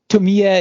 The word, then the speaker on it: Tomie: know if that's the your pronunciation might have been totally correct on that one but uh Tamiya is a is apparently how they say it in the movies um so like a